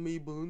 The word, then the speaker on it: Mabon: Moi, je le prononce Mabon. C'est très certainement un truc comme Maybon ou Mabon ou voilà.